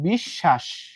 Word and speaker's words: বিশ্বাস: বিশ্বাস, দেখো উচ্চারণের মধ্যে ফার্স্ট কথা হইতেছে ব নাই। ব না থাকার পরেও কি হলো? এই যে এখানে কি ছিল? তালব্য স প্লাস ব। বটা যখন আউট হয়ে গেল, এই তালব্য ষর উচ্চারণ কয়বার হয়ে গেল? দুইবার। এই যে দেখো বিশ্বাস। ক্লিয়ার?